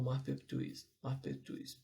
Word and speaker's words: Maupertuis: Eu não vou saber escrever o nome, mas essa é a pronúncia Senhor Maupertuis, que foi o idealizador